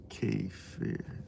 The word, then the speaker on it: kefir: Kefir, dishonorable criminals. It's kefir. Well, in Turkish, it's Kefir. That's how you spell it.